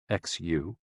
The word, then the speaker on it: xu: the six sounds are xu pronounced like shh with a deep sigh which is associated with